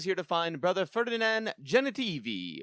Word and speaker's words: Genitivi: He is here to find brother Ferdinan Genitivi which rhymes with ferachini an expert of the urn of sacred ashes.